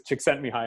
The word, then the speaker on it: Csikszentmihalyi: For a long time, I didn't say his name, and somebody said, no, it's Csikszentmihalyi, and I was like, oh, okay, that doesn't sound so bad now.